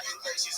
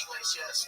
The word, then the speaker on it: Iglesias: Oh, the H is silent. The H is silent. The first letter of your last name is silent. So you go by Iglesias? Yes, sir. Okay. Different than Iglesias. Right? Yeah, no, it's not Iglesias, it's Iglesias, but like I try not